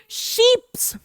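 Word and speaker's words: chips: Spelling भी वही है चिप्स की, लेकिन इसको हम बोलते हैं ले शीप्स। शीप्स, हाँ भाई, भेड़ों वाली शीप्स। इसको लिखते चिप्स है लेकिन बोलते हैं शीप्स।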